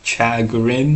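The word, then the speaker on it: chagrin: Chagarin as the Americans pronounce the word.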